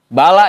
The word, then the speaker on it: bala: Bala ya, bukan bal itu. Ntar bal yaqulu bal, begitu lagi. Bala itu. Makanya saya pakai kitab yang cetakan ini. Karena ini udah ditahqiq lagi. Itu bala itu tulisannya, bacanya. Ada alif bengkoknya.